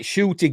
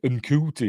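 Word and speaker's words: Ncuti: It's like Shooty Gatwa, the new Doctor Who. Nobody knew it would pronounce Shooty until we heard him say it. We were all saying Uncooty and stuff like that, weren't we?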